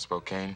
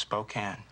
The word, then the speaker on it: Spokane: Well, let me tell you, if I'd have been from 50 miles outside of Spokane... Spokane. It's pronounced Spokane.